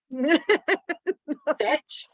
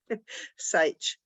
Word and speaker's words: Sage: Am I saying that correctly, Julie? Satch? Sage. Sage. Thank you. Rhymes with H.